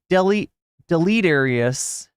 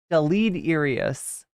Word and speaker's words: deleterious: it pronounced and you what would what would the mispronouncing of Del he'd say like Del delete areas that's complet that would be completely Del delet deleterious thank you V for